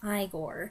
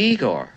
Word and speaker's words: Igor: though it's going to be Marty Feldman as Igor considered by both Brooks and Wilder to be the True Heart of the film you must be Igor now it's pronounced Igor but they told me